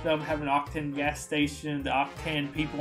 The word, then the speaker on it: Octan: And then we're going on to Octan. That's how you say it.